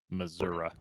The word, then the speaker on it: Missouri: what's wrong with that Missoura that's that's how you know someone's from the south when they pronounce Missouri as Missour I think that was